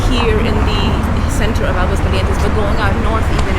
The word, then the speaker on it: Aguascalientes: Centro over here in Aguascalientes. I personally think Aguascalientes is a beautiful city. My wife corrected me on it. She said it's not Aguas Calientes, it's Aguas Calientes.